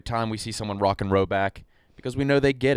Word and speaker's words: Rhoback: little nod every time we see someone rocking Roback because we know they get it.